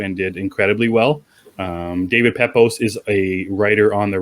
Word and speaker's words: Pepose: How did you pronounce his last name? Pepose. Pepose.